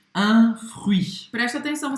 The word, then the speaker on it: fruit: Presta atenção, você vai falar o R, você vai pronunciar também o U, faz a boca do U e fala aí. e você vai pronunciar o I. O T, esquece que ele tá aí.